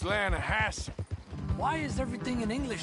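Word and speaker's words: Lannahechee: The the Lanahhatchee. It runs right near here. Yeah, but it's pronounced Lanahassi.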